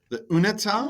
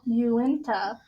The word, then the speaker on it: Uinta: The Unita? Nope. Unta? Uinta. You win. The Uinta? Uinta. Uinta? Mm-hmm. I'm saying it like you. Mm-hmm. Inta? Okay. Yeah. You in top. Uinta? Uinta! Winter.